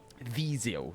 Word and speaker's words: Viseu: Viseu, that's how it's properly pronounced.